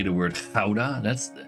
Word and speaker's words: Gouda: Gouda? No, Gouda. Gouda. The OU make ow.